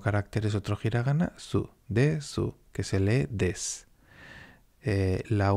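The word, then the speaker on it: です: Por eso no se dice desu, sino que se dice des.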